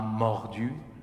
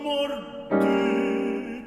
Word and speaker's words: mordu: De sa danse soudaine et vorace, comme un chien, l'amour m'a mordu. Okay? But don't make an accent on the D, though.